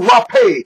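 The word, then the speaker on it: rapé: god-given hands we have the rappay that's how you say it in Spanish that's how you say it in german yes you've got the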